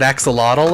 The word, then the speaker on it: axolotl: it's a pretension thing I think like it's my understanding that like the there's like native folks who like First Nations folks who pronounced it that way so I'm like maybe I should try to pronounce it that way instead of using the English anglicized version of it ashilosh okay I was